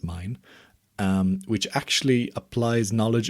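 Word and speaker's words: Milne: by Gustaf mine uh m i l n e is his last name I think it's pronounced mine um which actually applies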